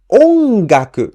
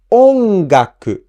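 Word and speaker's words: 音楽: For example, ongaku means music, and this word ongaku has the accent on the first mora o. So we pronounce O at a higher pitch. Ongaku, ongaku.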